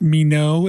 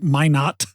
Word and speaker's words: Minot: It is not pronounced me no, it is my not.